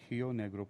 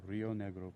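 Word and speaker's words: Río Negro: Carlos De varloc in hio negro province um did I say is that uh oh Argentina would be Rio I was looking pronouncing it in the Brazilian Portuguese way it's Rio negro Province some 900 miles south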